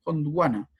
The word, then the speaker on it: Gondwana: Gondwana, así se pronuncia.